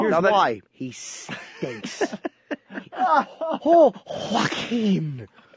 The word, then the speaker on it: Joaquin: Oh, Joaquin. Anybody with a silent J in the beginning of their name is Joaquin.